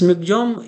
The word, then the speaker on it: Michaung: This Michaung is the pronunciation here, and this name will be given by Myanmar.